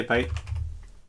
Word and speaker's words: byte: oh by the way it's i say bite yeah it's spelled with y word is spelled like